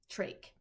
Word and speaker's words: trach: my life lesson one trach you say it like tur ache in case you didn't